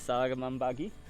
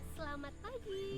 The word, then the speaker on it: selamat pagi: And then bahasa is salaman pagi. Pagi. Yeah, selamat pagi.